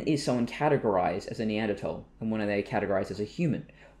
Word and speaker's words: Neanderthal: So would we suddenly say, oh, well, because Europeans have more Neanderthal, and that is how you pronounce it, by the way, it's a German word, they have more Neanderthal